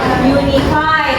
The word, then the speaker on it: unified: lanjut ke paragraf 4 unifi tuh tadi bacanya Salah bacanya gimana benarif unified artinya menyatu atau bersatu juga